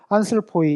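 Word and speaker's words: ἄνθρωποι: 보면 여기 보면 여기 보면 안스르포이 이렇게 해서 안스르포이 이렇게 길게 발음하는 게 아니라 그냥 이건 짧은 거로 안슬포이 이런 식으로 아주 짧게 발음을 합니다.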